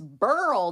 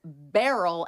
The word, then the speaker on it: Beryl: So that's why it was barrel and not burl.